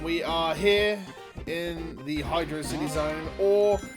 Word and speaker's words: Hydrocity: Uh, and we are here in the hydro city zone or hydroity if you are ever so much inclined. I personally have always pronounced it as hydro city and I know